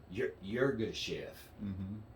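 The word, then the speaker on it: Yirgacheffe: Yurga Chef.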